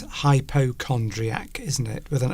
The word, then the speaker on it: hypochondriac: Because it's not hyperchondria, is it? It's hypochondriac.